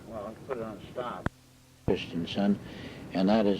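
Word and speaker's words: Christiansen: oh yeah anything well put it on stop Christian son and that is spelled last name c h r i s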